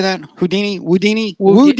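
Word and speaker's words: Whodini: you say that Houdini woodini woud Houdini with a w woodini uh number 15 um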